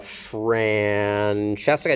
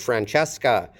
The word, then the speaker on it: Francesca: The stress syllables in the middle, and we have another affricate, the unvoiced affricate, ska. And note that the S here is on the last syllable because sk is a possible onset in English. You can begin a syllable in English with sk and then ending with a schwa.